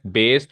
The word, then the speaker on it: Bayes: Third topic is बेस theorem, बेस की spelling है BAYES, बेस theorem.